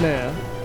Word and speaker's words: ne'er: N-E, comma, no, apostrophe, E-R, and you pronounce it ne'er.